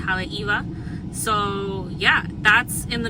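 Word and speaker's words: Haleʻiwa: It's in an area called Haleiwa. It's spelled Haleiwa, but it's pronounced Haleiwa.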